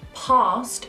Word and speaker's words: past: In certain words like bath, past and grass, we pronounce the A as an R. Like you're an opera singer. Ah! Or you're at the dentist. Ah! Bath, grass, half. Do not be tempted to do a sound.